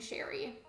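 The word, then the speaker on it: Chérie: you check out Sherry is how you pronounce that I used to pronounce her name like Cherry but that was and then I changed it saying Sherry I will say I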